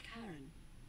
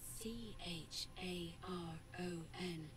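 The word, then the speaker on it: Charon: it's just as you described it only your prononciation is a little off the name you heard wasn't Karen it was c h a r o n as Inon the Fairman of the Dead who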